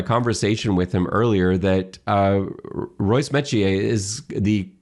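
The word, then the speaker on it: Royce Metchie: And I learned this from Mike Hogan in my conversation with him earlier, that Royce Metier is the correct pronunciation.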